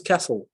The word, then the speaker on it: castle: Bien ça se prononce castle.